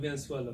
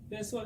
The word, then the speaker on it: Venezuela: Okay, man, that's them Venezuela, man. They from Venezuela, man. Venezuela, okay. They're cool people, man. Venezuela? Venezuela girls, yeah. Man. I've never heard that country before. Venezuela, never heard Venezuela?